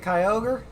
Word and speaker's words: Kyogre: point it's grounded like is it kyogre or is it key over kyogre okay that one i actually say right then but point is